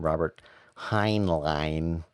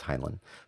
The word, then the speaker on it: Heinlein: short story by uh i never know how to pronounce his last name robert heinlein uh i think it's highland but um it's called